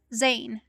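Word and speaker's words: Zanne: his lost love um his lost love named zayn z-a-n-n-e or zone spelled like that um and he he goes through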